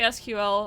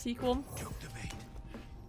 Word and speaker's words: SQL: i want to learn uh sequel i always want to say sql i know it's like technically pronounced sequel well that's something that